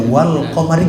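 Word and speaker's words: والقمر: Wal qamari, jadi wasyamsi dengan wal qamar bulan ya. Syamsi matahari, qamar bulan. Nah itu. Jadi lamnya al qamariyah, makanya wal qamari jelas kan.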